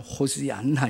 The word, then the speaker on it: 호시안나: 정확하게 하면 호시안나 이렇게 정확하게 말하면 그렇게 발음을 하는데 위대한 구원의 주님 그렇게 외쳐요.